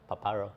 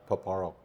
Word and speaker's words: Paparo: his name right yeah paparo paparo almost sounds like papaya Admiral paparo so he